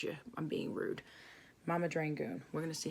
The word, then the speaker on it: Dragun: Mama Dragun. We're gonna see how that looks. Come on. Come on, Mama Dragun. Or it's Mama Dragon, isn't it? Sorry, I didn't mean to say it wrong.